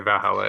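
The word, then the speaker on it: VA-11 HALL-A: You can just say Valhalla. It's okay. Yeah. What do you think? I think I know how to say it. I think it's from memory. Isn't it it's all caps. VA-11 space HALL-A? Yes, I think.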